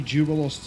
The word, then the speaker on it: Jubilost: I swear we've heard maybe Jubilost's voice actor pronounce it as J, not Z.